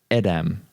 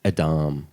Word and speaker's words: Edam: Bree cream cheese and Edam whatever the hell that is it's Adam a darling sorry Darlings you got that wrong it's all good it's